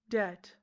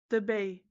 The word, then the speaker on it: debt: Debt. There's a B. Debay.